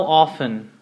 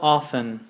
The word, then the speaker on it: often: let's begin repeat how often how often how often if you notice we do not pronounce the T we it's say it